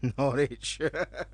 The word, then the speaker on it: Norwich: It's pronounced Norwich.